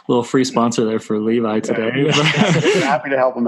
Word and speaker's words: Levi: It is Levi. Okay. Even though it's spelled Levi.